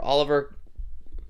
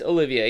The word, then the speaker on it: Olivier: It's got art inside by Olivier Coipel, or Oliver. Yeah, it's Olivier. You see the extra I there.